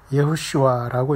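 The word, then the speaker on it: יהושע: 우리가 예수님에 대한 그 가장 히브리 원어에 가까운 발음은 예호슈아라고 이렇게 말할 수 있어요.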